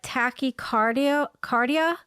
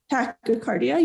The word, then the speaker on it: tachycardia: like anxiety but as i think i'm saying it wrong but it's called a tacky cardiocardia tachycardia yup tactycardia and palpitations it says